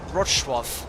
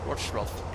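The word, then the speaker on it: Wrocław: Lufthansa, correct pronunciation is, because the L is spelled as a kind of a W, Wroclaw. Wroclaw.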